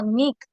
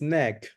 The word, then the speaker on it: neck: no number nine no Nick ah no no the pronunciation is neck neck okay Nick is Nicholas is a it's a name okay uh Samantha number